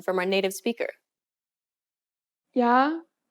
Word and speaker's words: 야: 아, 야, This small stroke adds a Y sound to the beginning of the original sound. Compare the pronunciation of these 2 letters once again. 아, 야, When you say this letter, don't pronounce the Y sound for too long.